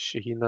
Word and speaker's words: Shaheen: Shaheen Miro, yeah, it's Shaheen, isn't it? I was worried that I'd got his name wrong there, but that's it.